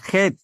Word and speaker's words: cat: আচ্ছা, CAT, এটার উচ্চারণ কি? ক্যাট। খ্যাট। জি না, খেট। ক্যাট না, খেট। না হলে আপনার উচ্চারণ ভুল।